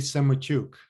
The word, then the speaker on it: Semotiuk: i do us and canadian immigration law andy semaychuk am i pronouncing it correctly yeah senator andrei in ukrainian